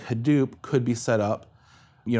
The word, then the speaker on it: Hadoop: Solutions like Hadoop uh is that how it's pronounced yes Hadoop he was saying the Hadoop distributed file system